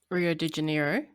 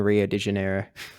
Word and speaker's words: Rio de Janeiro: it rioo I think Rio de janiro yeah like which makes like she wasn't pronouncing the J which makes sense seeing